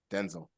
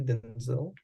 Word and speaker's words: Denzel: uh he denel huh Denzel we've been saying it wrong for the past years Denzel is it actually Denzil yeah I was livid I'm